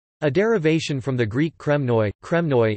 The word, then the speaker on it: Κρημνοί: derivation from the Greek kremnoi, kremnoi in post-classical Koine Greek pronunciation, krimni, i.e., the cliffs, a